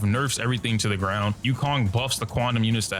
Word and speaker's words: Yukong: moral of the story Yukon rhymes with Donkey Kong guys if you enjoyed